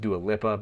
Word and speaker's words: Dua Lipa: Nostalgia by dual Lipa I think it's pronounced dualipa I've heard it pronounced dual lippa but uh we'll just go with dualipa on this one uh first released uh